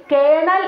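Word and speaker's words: colonel: എഴുതാൻ പറഞ്ഞാൽ നമ്മൾ എങ്ങനെയായിരിക്കും എഴുതുന്നത് കെ ഇ എൻ എ എൽ എന്നായിരിക്കും നമ്മൾ കേണലിന് എഴുതുന്നത് പക്ഷെ ശരിക്കുള്ള സ്പെല്ലിംഗ് നോക്കിക്കേ സി ഒ എൽ ഒ എൻ ഇ എൽ ആണ് ശരിക്കും കേണൽ എന്ന് നമ്മൾ വായിക്കേണ്ടത് നോക്കിക്കേ സ്പെല്ലിങ്ങും അതുപോലെ ഉച്ചാരണവും തമ്മിൽ യാതൊരു ബന്ധം നമുക്ക് തോന്നുന്നുണ്ടോ ഇല്ല അപ്പം നമ്മൾ ശരിക്കും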